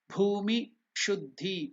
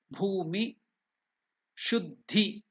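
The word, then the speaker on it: भूमि शुद्धि: So in this step, I will again teach you the pronunciation of Bhumi Shuddhi. Bha is again Mahaprana, it is not Ba. It is not Bhu, it is Bhu. Bhumi Shuddhi.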